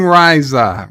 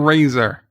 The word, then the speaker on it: Risa: I was saying Risa. Risa. I'm saying it right. Stop telling me I know it's not razor. I'm not saying razor. It might be saying riser, but it's ricer. Risa.